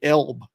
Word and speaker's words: L.B.: Elb. Like I always thought it was L.B. as in L.B. as initials. It isn't.